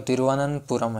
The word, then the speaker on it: तिरुवनंतपुरम: जो राजधानी है वो तिरुवनंतपुरम है, तिरुवनंतपुरम। और कई लोगों प्रोनाउंसिएशन सही नहीं कर पाते इसमें कि तिरुवनंतपुरम में तिरुवनंतपुरम कहते हैं, लेकिन ऐसा नहीं है, तिरुवनंतपुरम, तिरुवनंतपुरम।